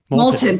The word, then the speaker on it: Moulton: massachusetts seth i'm going to say his last name wrong moulton moulton thank you he introduced legislation to make sure